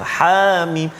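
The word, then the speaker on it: حم: Jadi Hamim ini cara baca dia iaitu ha itu tak ada harakat, mana ha baris atas ha jangan panjangkan, jangan panjang, ha tak ada harakat itu, Hamim, ha terus.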